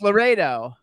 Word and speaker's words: Laureiro: So it's Laredo. Yes.